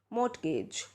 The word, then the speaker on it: mortgage: G es what do you call this mortgage mortgage well pronunciation for this would be mortgage note this